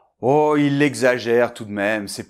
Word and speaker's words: exagère: Alors ici, le X entre deux voyelles, on va faire [g] et [z] : . Donc .